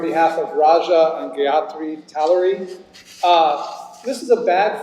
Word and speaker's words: Talluri: Did I get um correct? Uh you did not, but you pronounced it the same way I would have as well. It's actually Talorie. Tallery.